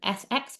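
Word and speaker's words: SEXP: is the sx or s expression. And I've heard various people pronounce it in various different ways but I'm going sx before s expression.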